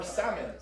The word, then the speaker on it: salmon: Or salmon. The L is silent.